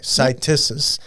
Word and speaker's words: Cytisus: Stacy, you pronounce the botanical name Cytisus? Mm-hmm. Okay, Cytisus.